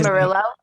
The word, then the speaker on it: Murillo: um different events say his name again john marillo oh john okay okay yeah yeah okay yeah